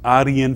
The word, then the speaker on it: Arya: the religion of these Aryan people or Aryan people. If you pronounce the word the Indian way, it is Arya, with a long vowel A, Arya and Aryan.